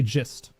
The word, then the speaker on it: gist: Is it pronounced gist or gist? Because I pronounce it gif, but I pronounce this gist. Because in this combination, gist does not make any sense to me whatsoever. Like here, it only makes sense to me to say gist and not gist, if that makes sense. I don't know. It's pronounced gist. Exactly. It's pronounced G-I-S-T. Boom.